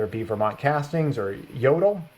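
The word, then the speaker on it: Jøtul: be Vermont Castings or Jodel, which is spelt with a J, Jotul. It's like Scandinavian or something like that.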